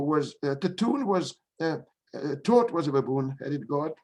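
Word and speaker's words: Thoth: are two pronunciations of the name some people pronounce it in the english way uh thought but i've heard it from from those who who are specialists in egyptian mythology i heard only the pronunciation taught without any age and i think it's better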